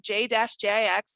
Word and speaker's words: JJix: So JJix is the best, J-JIX, like I'm a DJ, I'm not, but that would be my handle or something like that. So JJix is how you pronounce it, but as I always say, call me.